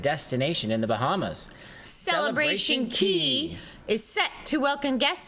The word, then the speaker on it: Cay: Carnival's Paradise Collection includes Relax Away, Half Moon Cay in the Bahamas, or is it Key? What's different is they have K, right? C-A-Y, but it's pronounced Key.